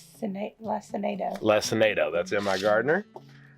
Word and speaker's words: Lacinato: How do you pronounce it? Lacinato.